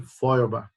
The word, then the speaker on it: Feuerbach: Eu citei para vocês, já em outras ocasiões, um filósofo alemão chamado Ludwig Feuerbach. Alguns preferem pronunciar Feuerbach, mas tanto faz.